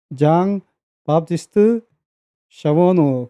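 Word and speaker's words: Jean Baptiste Charbonneau: 그래서 이제 그 여기를 이제 가게 됐는데 발음은 이제 그 프랑스식 발음이기 때문에 장 바티스트 샤보노 그렇게 됩니다.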